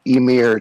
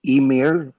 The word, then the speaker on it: Ymir: Okay, so Ymir did Emir, take over it, yeah. So Emir. It's a Swedish, or it's a Swedish pronunciation if I remember correctly. It's a Nordic god.